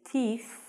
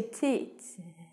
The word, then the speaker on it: teeth: sounds like you say tits. Tits. Tit. It sounds like you say tits. Don't say that. So, tooth and teeth. You must stick out your tongue to get the pronunciation of this word correct.